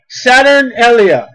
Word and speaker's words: Saturnalia: can be traced back to the Roman festival Saturnalia, capital S-A-T-U-R-N, Saturn. With this ring, do you take? A-L-I-A, that's one word, I know I made a comment. S-A-T-U-R-N-A-L-I-A.